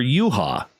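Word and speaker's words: Juha: over to finland for uha which is spelled j-u-h-a u-ha mace may 6 1986.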